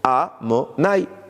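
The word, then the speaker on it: Adonai: On l'écrit Yud Ke Vav Ke, mais on le prononce Amonai, le deuxième nom dont je parle.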